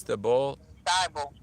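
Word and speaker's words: Thybulle: Matisse Thibault.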